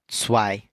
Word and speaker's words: zwei: 2 is going to be zwei. Zwei.